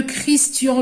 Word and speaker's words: Christian: CH, qui est le CH, dans certains cas, se prononce K. Donc là, je vais dire, de qui te moques-tu? De Christian Lecoq.